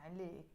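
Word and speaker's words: عليك: i die for you so alec literally means on you so it's usually a la when it's on but if if i want to say on you i say i like i'm not going to say i like no it's alec and if it's a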